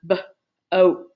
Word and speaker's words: boat: So that's why we pronounce this word B-oat. We don't hear that A, it's silent.